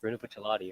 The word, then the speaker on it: Bruno Bucciarati: It's Bruno Bucciolati.